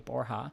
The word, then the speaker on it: Borja: former president of Ecuador Rodrigo borha which a Borgia b o RJ a borha and his wife are